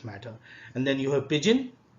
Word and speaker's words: pidgin: And then you have pidgin. Pidgin is pronounced as pigeon. Okay, D is silent here.